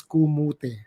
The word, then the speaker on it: kamote: that we're doing is called tropan kamote pronounced as kumute okay tropa komota is